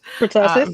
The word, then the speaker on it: pertussis: I hope I pronounced that one right. Pertussis, varicella.